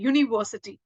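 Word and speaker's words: university: यूनिवर्सिटी ठीक है तो यहां पर यू वाई की साउंड कर रहा है यूनिवर्सिटी ठीक है यूनिवर्सिटी अब यूनिवर्सिटी की स्पेलिंग आप ऐसे भी नहीं लिखोगे बट इट is pronounce like you यू मतलब वाय ओ यू की तरह वो प्रोनाउंस कर रहा है वाई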